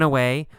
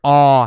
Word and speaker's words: awe: All right, we see the word awe here. A-W-E. Awe. It's pronounced awe. Awe. Awe. You don't actually say a W sound.